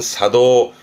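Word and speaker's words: 作動: 작동 발음은 사도.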